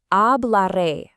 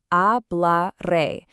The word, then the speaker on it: hablaré: The answer is hablaré. Phonetically, we say it like a bla re. Remember, the H at the beginning is completely silent in Spanish.